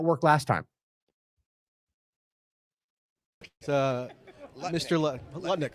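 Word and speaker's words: Lutnick: well how'd that work last time uh Mr letnik letnik sorry thank you for the pronunciation correction yeah Howard letnik caner Fitz Gerald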